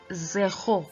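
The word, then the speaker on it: zéro: of the e ho and the r in french is pronounced as a ho please not notice the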